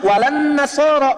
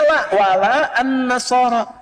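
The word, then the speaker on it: ولا النصارى: Cuman kita bacanya pakai eh kan alif lamnya syamsiyah tuh ya. Lamnya masuk ke nun walan nasara. Padahal itu tulisannya la wala annasara.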